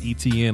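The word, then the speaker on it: Etienne: is a beast Travis etn is a beast and it's pronounced etn like the letter e letter T letter n e TN is a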